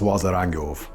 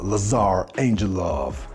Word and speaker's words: Lazar Angelov: of you who don't, this is Lazar Angelov, or how they pronounce it here in America, Lazar Angel Love.